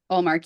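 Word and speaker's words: Ullmark: I think really the star there and the star really it's going to be the goalie Olmark if he plays. Is that how you say his name? Allmark, yeah.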